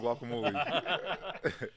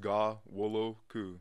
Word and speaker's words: Ghanwoloku: I'm like, it's not Guacamole. So say it again, because we think we know how to say it, but we want to make sure. All right, so it was like, the N in it is silent. So if you take the N out, it's just Ga-wo-lo-ku.